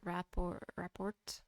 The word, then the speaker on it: rapport: To those who we once had good rapport. And I what? It's report. You don't pronounce the T.